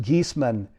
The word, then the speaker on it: Giesemann: me formally introduce her Suzanne geesman and it's pronounced geesman is a highly sought-after and respected medium who